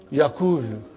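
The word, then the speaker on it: يقول: If I put a sukoon on waw and dhamma on kaf, how will you pronounce it now? Yakulu.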